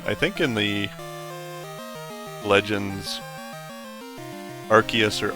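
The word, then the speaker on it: Arceus: I think in the Legends Archus or Arcus game people pronounce it different ways. I've saw videos from the the voice actor who plays Ash Ketchum and she is adamant that it is Archus, but I kind of prefer saying Arus myself.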